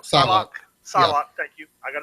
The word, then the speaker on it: Psylocke: Magneto and I always get her name wrong. Psylocke.